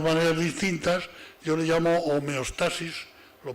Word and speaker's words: homeostasis: distintas yo le llamo homeostasis lo pronunció de esta forma aunque se puede pronunciar homeostasis también que ir señoras y